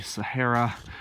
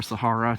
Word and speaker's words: Sahara: and a lot of the Sahara or Sahara depending how you want to pronounce that one or in Australia places